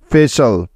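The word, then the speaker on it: facial: তাহলে এই শব্দটির সঠিক উচ্চারণ হবে এফ এ ফে এবং সি আই এ এল শাল, ফেশাল, ফেশাল।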